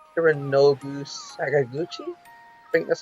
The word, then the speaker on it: Hironobu Sakaguchi: And it was made initially by, well, my Japanese is terrible, but I think it's pronounced Hironobu Sakaguchi.